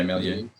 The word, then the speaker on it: Méliès: Is that how you pronounce it? Yeah, Méliès.